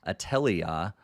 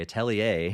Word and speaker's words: Atelier: first part of it atelia rizza sorry atelier ryza3 alchemist of the end and